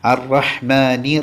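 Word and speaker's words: الرحيم: അറഹ്മാനി അറഹ്മാനി റഹ്മാനി റഹീം അറഹീം അവിടെ അവസാനം മീം ആണ് ആ മീം ചുണ്ട് പൂട്ടിയ രൂപത്തിലാണ് പറയേണ്ടത് ഇൻഷാ അള്ളാ നല്ലപോലെ ഈ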